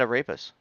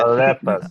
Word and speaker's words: arepas: I thought you had a rapist. No, I There got it him is. delivered. There's that Bobby pronunciation. Oh shit. Arepas. Arepas. Oh shit. Arepas. I said a rapist again.